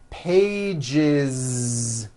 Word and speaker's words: pages: One page becomes two pages with that voiced Z. Two pages. It's not two pages, unvoiced, no. It's two pages with a voiced Z.